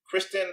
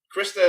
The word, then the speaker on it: Krista: And I have Miss Kristen. Hello. You got my name wrong again. You always get your name wrong. Krista it is.